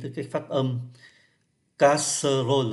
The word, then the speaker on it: casserole: Casserole là gồm có 4 âm tiết. Nhưng mà chúng ta chỉ còn có hai thôi. Ký tự ơ cuối không phát âm, ký tự ơ nằm kẹt ở bên giữa hai nguyên âm khác, hai cái syllab khác cũng không phát âm. Như vậy thay vì 4 casserole thì chỉ còn phát âm thành có hai, une casserole là một cái song.